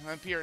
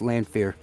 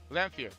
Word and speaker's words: Lamphere: Hey, pretend the PH is an F and go from there. It's pronounced Lamphere. Lamphere.